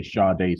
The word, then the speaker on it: Sade: I want to say Sade so bad, so Please do, badly. because that's how you pronounce it, like the Is it?